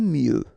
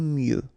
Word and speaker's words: mieux: Aimer mieux. Final X not pronounced. Aimer mieux.